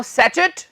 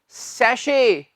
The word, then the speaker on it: sachet: क्या कहा? सैचेट? नहीं मेरे भाई, ये है सैशे। हां जी, सैशे।